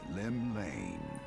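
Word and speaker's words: Llymlaen: the nation's patron deity, Lim Lane. Oh, it's not even pronounced Welsh. That's like literally pronounced normally.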